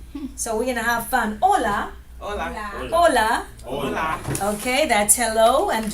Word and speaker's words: hola: yeah but we say hola and hello we know that's hello I'm not gonna write them here cus we have in the air yeah okay so the H is silent and we say hola right hola let's go